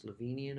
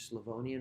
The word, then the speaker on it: Slavonian: aged in slovonian oak i often hear people mispronounce this as slovenian oak that's different it's slovenian oak this is the tradition with nebiolo to use larger barrels use slavonian oak which offers oxidation and softening without offering